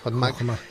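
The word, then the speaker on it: חכמה: Yo me planteo ahora, doctor, porque según los postulados cabalísticos, sabiduría equivale a la palabra hebrea Hotmak, creo que se pronuncia así, sí, Hotmak, gracias.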